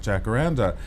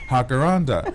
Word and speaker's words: jacaranda: the radio interviewed about Jack Randa and she was annoyed and she said why do you complet completely mispronounce this word over and over again it's hakara and I said well you